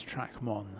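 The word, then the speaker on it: Trac Môn: sure and I uh I asked a local lady who said yes you are it is track one so I'm happy with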